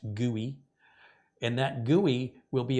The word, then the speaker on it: GUI: user interface or GUI which is pronounced guy and that guy will